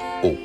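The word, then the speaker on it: Å: Une seule lettre, A, avec ce petit rond au-dessus qui fait qu'on le prononce O.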